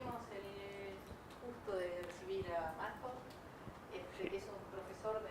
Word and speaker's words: Madhow: Mi esposa es de acá y voy con mi apellido, se pronuncia Madhow.